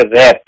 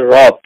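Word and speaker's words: wrath: আমাদের অনেক পাঠক বলে রে উচ্চারণ একটু শিখতে হবে আপনাদের সবাইকে ডব্লিউ আর এ টি এইচ এটার উচ্চারণ হচ্ছে রথ নট রে শুধু এ থাকলেই সব এ হয় না রথ ডব্লিউ আর এ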